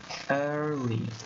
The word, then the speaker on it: early: Pronunciation again, early. Early. For those who have British pronunciation and if you guys are watching this stream, you should sound like early without R. Again, Americans, early. British, early.